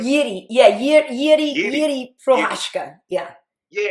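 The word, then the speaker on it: Jiří: Jiri, how do you say his name? Yiri.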